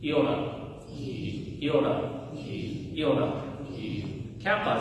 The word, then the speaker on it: kappa: Kappa is going to be like kin.